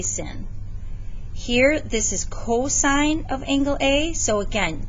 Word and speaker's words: cosine: angle a so again don't say cos please just say cosine it's just an abbreviation um it's sort of like mrs buck right you don't say mers okay so you kind of say the whole thing and um any abbreviation